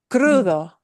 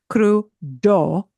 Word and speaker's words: Crudo: Crudo. Crudo. And you'll notice that D sounds like a TH. Yeah. It's not crudo. It's crudo.